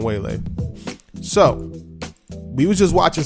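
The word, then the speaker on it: Weili: Zhang Wei Lee it's her first name is Wei Lai shun but they pronounced a giant whale a so we was just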